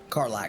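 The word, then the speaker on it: Karlach: Carlac. Excuse me. I'm going to get better at it. No, no, you just say Carlock. It's fine. It's again like a pet name.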